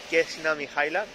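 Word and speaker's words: Kneza Mihaila: Y estamos yendo por la calle, como decía, Kesna Mihaila.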